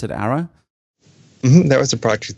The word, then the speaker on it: ARA: Do you pronounce it ARA?